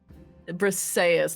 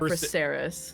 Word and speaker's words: Brayas: Brayas, not Breres. Bris, thank you.